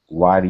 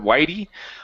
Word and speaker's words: wiry: inside a light wiry young man not much older than 16. Okay, very good. All right, let's go to this word here. Give me a good R instead of whitey. Wiry.